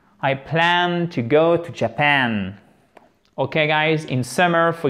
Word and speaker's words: Japan: Alors, attention à la prononciation de ce mot, ok, et à la place de l'accent tonique, Japan, le Japon, Japan.